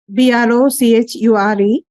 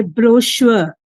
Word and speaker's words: brochure: Next is BROCHURE, and according to British accent they say brochure. Okay. And Americans say brochure.